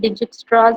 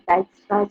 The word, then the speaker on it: Dijkstra's: Most of us call it Dijkstra's algorithm also, but actually it is pronounced as Dijkstra's algorithm.